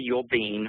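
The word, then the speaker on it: Uhl-Bien: You might be interested in some really interesting work that's been done by Professor Mary Yule-Bean. Her last name is spelled U-H-L, and then it's dash B-I-E-N.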